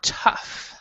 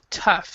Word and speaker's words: tough: ok so now this word right here is pronounced tough tough so the GH is a fuss sound like